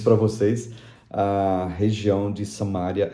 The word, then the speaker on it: Samária: E até hoje a região, eles não falam Samaria, a pronúncia certa é Samária.